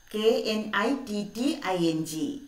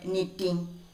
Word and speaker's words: knitting: letter here tell me which is the silent letter here in this word knitting yes first letter k k is silent so how can we pronounce it knitting once more please knitting